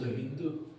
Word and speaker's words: হিন্দু: যেহেতু পার্সিয়ান অর্থাৎ ইরানের মানুষরা এস কে এইচ এর মতো উচ্চারণ করতো, সেই জন্য এরা সিন্ধুকে বলছে হিন্দু।